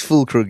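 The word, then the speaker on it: Füllkrug: It is fulkr.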